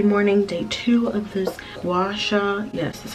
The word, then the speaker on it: gua sha: tuesday it's tuesday morning day two of this washa yes that's how you say it facial challenge